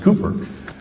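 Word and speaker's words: Cowper: uh it's spelled cper but it's actually pronounced Cooper said he works in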